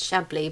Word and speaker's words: Chablis: this french wine glad chablis shabbly it's shabbly but i don't know